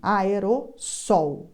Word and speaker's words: aerossol: escrevem errada aerosol com dois ésses e a pronúncia exatamente assim aerossol e a seção eleitoral abrir a as oito